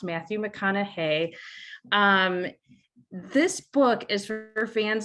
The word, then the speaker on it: Matthew McConaughey: His name is pronounced Matthew McConaughey.